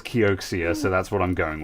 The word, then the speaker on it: Kioxia: However, everyone says Kioxia, so that's what I'm going with.